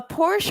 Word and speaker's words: Porsche: And then Shmeia was like, "A Porsche or a Porsche?" And I'm like, "Shamia, girl." Well, you know, Porsches, Porsches are pronounced Porsch as a Porsche owner, they're actually pronounced, you pronounce the E, the A as a